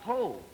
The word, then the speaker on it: Hoh: hold the name hold the spell backwards is pronounced whole it's h-o-h and uh we're grateful to the